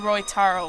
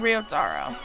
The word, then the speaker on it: Ryotaro: Wait, this is just like the ending for, when Roitaro left, or, as I found I was pronouncing it wrong, Ryotaro.